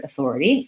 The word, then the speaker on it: authority: comments as well so the word Authority has four syllables and the spelling doesn't really match the sounds very well in this word so the first thing to know is that my stress is going to be on the second syllable these other syllables will